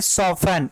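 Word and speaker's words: soften: अगला है सॉफन, ये टी वर्ड यहाँ पे साइलेंट है, इसको क्या पढ़ेंगे, सॉफन, सॉफन, सॉफन।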